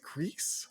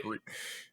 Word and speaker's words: Gris: Do we pronounce it Greece? I've always Yeah, said. because it is it's the Spanish pronunciation because the Oh, studio is based in okay.